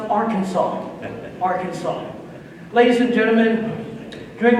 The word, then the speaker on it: Arkansas: Confidently, I said, Arkansas. Arkansas. He corrected me and said, no, son, it's pronounced Arkansas.